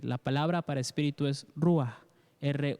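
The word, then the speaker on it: ruach: para espíritu perdón es rúa lo voy a repetir la palabra para espíritu es rúa ere o en español j porque pronunciamos la jota como un sonido en la garganta pero significa a rúa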